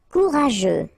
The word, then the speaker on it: courageux: Courageux. Final X not pronounced, and then you get this U, E, and G plus E. After that it's je, so je, okay?